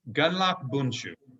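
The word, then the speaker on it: Gundlach Bundschu: It is Gunlock Bunshu.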